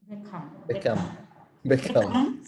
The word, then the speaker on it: Beckham: Typically, when you are English and your name ends with AM, you don't say am, but For example, how do you say this name? Beckham. So we call it Beckham. Exactly. So it's Beckham instead of Beckham.